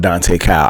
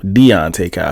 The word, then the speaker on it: Deontay Kyle: I gotta speak on Dante Kyle. I think that's how you say his name. The political guy with the dreads. He says some good things, but it's Deontay Kyle.